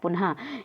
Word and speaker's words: पुनः: तो विसर्ग क्या होता है, विसर्ग, तो इस ध्वनि का उच्चारण हा के समान होता है। क्या होता है, पुनः, यानी कि हम लोग